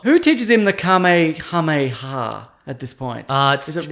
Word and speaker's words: Kamehameha: So to learn the kamehameha. Yeah, is that how you pronounce it? It's K. The first word's K, and then it's H and ha. So it's kamehameha.